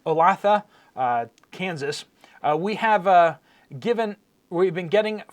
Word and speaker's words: Olathe: Donna says, first time ever as my neighborhood Walmart in Olathe, Kansas. I would not have thought it was pronounced that way. Thank you for the pronunciation. Olathe, Kansas.